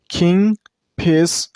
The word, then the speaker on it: kingfisher: Kingfisher. And you also stress on the first syllable. I mean on king.